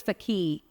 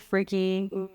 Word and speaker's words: Fakih: Our last name is Fakih. And man, used to get butchered. What? Fakih, freaky.